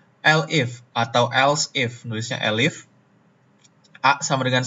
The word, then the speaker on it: elif: Elif ya, pronunciation-nya harusnya elif.